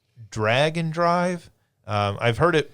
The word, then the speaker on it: Drag x Drive: There is a game called Drag and Drive. Um, I've heard it pronounced Drag X Drive, but in the trailer they pronounced it drag and drive.